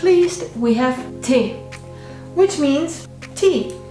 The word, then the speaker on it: Tee: Last but not least, we have Tee, which means tea. Say it like Tee, tea.